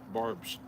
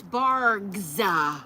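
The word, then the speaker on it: Barq's: This is Barg's root beer. Barb's. Barb's? Is it Barb's? You said Barb's earlier. No, it's Barg's.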